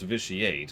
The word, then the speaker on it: vitiate: read me Lana Zionist vitiate is a real word which is pronounced vitiate which is like I've